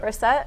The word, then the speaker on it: Brissett: Brissett?